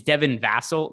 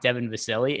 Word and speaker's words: Devin Vassell: switch by the way it's devin vassell not devon vasily and that's silly i